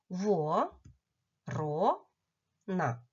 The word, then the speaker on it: ворона: що три голосних звуки во ро на на який склад падає наголос запитайте здивовано ворона правильно і чітко почули що наголос падає на другий склад вимовте звук який ви